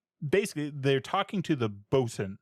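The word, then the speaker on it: boatswain: Basically, they're talking to the Bosen. So, it's spelled boats Wayne, but it's Bosen is the way we pronounce that now.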